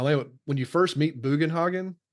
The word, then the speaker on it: Bugenhogen: when you first meet Bugenhogen. They say his name now. Now we know how we know how to say his name. We were always Booenhogen.